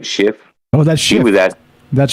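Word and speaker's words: Schiff: how to pronounce it it's s-c-h-i-f-f like shift oh that's with that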